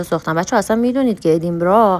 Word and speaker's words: ادینبرا: بچه‌ها اصلاً می‌دونید که ادیمرا حالا ما میگیم ادیمبرگ اشتباه تلفظش میکنیم لوکیشن هری پاترم بوده